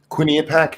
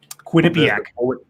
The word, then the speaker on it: Quinnipiac: i address the the witness thing I suppose Quinny attack how do you say that Quinnipiac Quinnipiac the polling place mm-hmm they put out